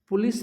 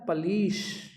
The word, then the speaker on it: police: एक बात याद रखें, POLICE इसका प्रोनाउंसिएशन पुलिस नहीं होता, इसका प्रोनाउंसिएशन होता है पलीश। ली बड़ी की मात्रा लीस, श पलीश।